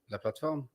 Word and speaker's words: La Plateforme: How should we pronounce this in French? La plateforme. Oh, La Plateforme.